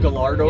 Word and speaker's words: Gallardo: Can I call it a Gallardo? I know that's the accurate. I'll call it Gallardo. It's pronounced Gallardo.